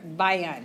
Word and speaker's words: vayan: Bayan. And that's how it's pronounced, like with a B sound.